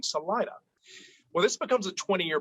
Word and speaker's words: Salida: what do you say proper spanish is salida but we do not pronounce it that way locally it is salida in 1880 the colorado